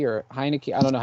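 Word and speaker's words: Heinicke: thing because i i actually had the right pronunciation for once you know how terrible i am that's the astonishment it's it's heineken okay but somebody brought this up i think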